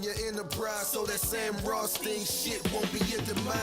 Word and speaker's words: Rothstein: Yeah, Rothstein.